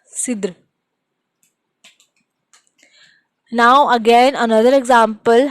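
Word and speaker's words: cidre: Another one, cider, which is Sidr. It is also, we are pronouncing it as Sidr, and it sound like S. Sidr.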